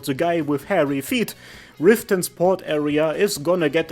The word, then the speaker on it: Riften: It's a must-have, and I'ma be honest, all the stairs and ladders and towers, they work really well with Riften. That's how you pronounce it.